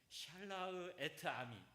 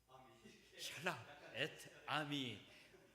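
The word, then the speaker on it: שַׁלַּח אֶת־עַמִּי: 이 목사님 발음으로 한번 좀 해주실래요? 샬라흐 에트 아미. 목사님 한번 크게 한번 해주셔요. 목사님. 샬라흐 에트 아미.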